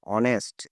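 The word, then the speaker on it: honest: Mister Sen ইজ অনেস্ট, এখানে অ্যান কেন হলো? এইচ আছে, এখানে অনেস্ট ওয়ের মতো ভালো মতো উচ্চারণ আছে বলে এখানে অ্যান হলো।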